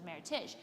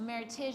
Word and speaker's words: Meritage: between meritage verb versus meritash well meritage is how you pronounce it not meritage because it's a merriment of two heritages and so she had